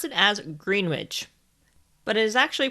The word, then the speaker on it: Greenwich: observatory in greenwich just a side note greenwich is spelled g-r-e-e-n-w-i-c-h and many foreigners including americans pronounce it as greenwich but it is actually pronounced as greenwich anyways